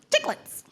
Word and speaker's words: Chiclets: And that's how you pronounce it, chiclets.